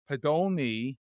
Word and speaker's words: Podolny: But I am honored to have Podolny.